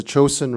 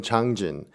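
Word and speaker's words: Changjin: is mostly this battle is known as the Chosun reservoir war the battle the Joseon reservoir but chosen is the Japanese pronunciation of the term changjun and so we like to call it changjun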